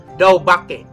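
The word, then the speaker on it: דבק: Saudara-saudaraku, kata Ibrani untuk sungguh-sungguh berpaut adalah daubake. Ya, dalam bahasa Indonesia ditulisnya dabek, tapi dalam pelafalannya adalah daubake.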